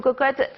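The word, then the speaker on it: Quocotte: Cocotte, ça s'écrit Q-U-O C-O-2-T-E, d'accord?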